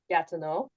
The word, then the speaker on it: Gatineau: EAU at the end of words in French. It would be pronounced like O, so it'd be like Gatineau.